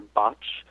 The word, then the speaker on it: Bach: His name was Dr. Bach, but usually people say his name is K-H and think Bach.